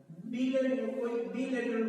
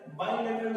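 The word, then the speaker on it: bilateral: बिलैटरल होता है, बायलैटरल इज the correct pronunciation, right.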